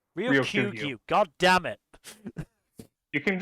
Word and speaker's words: Ryokugyu: wind down, considering I always forget how to pronounce his name properly. Is it just Sorry, what? Ryugoku? Ryokugyu. Ryokugyu.